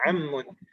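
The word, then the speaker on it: عم: Jadi ismun, al-bintun, sayyaratun, ibnun, al-madinatu, handisun, mughlaqun, ammun bacanya ammun. Pakai fathah.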